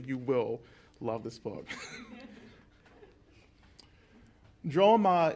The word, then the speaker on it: Drolma: Drolma is Tara's name in Tibetan. Drolma or Dolma, depending on the pronunciation, but in Tibetan, Dolma means, Dol actually, or Drol means to liberate.